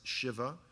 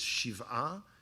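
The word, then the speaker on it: שבעה: Well, in America it's pronounced Shiva. In Hebrew it's Shiv'ah.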